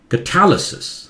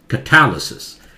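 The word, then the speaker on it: catalysis: के लिए, कैटालिसिस, कैटलाइज, कैटालिसिस, देखते कहां जोर से स्ट्रेस कहीं आ रहा है, यहां कैट पे आ रहा था, यहां टैल पे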